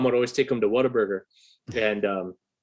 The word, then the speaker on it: Whataburger: And my mom would always take them to Whataburger. And it's pronounced What-A-Burger, but if you're from Texas, you call it Waterburger.